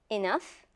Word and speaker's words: enough: In these words, we pronounce GH as F, F.